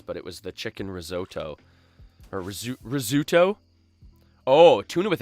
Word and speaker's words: risotto: that how it's pronounced risotto it's not rizzuto risotto and that's a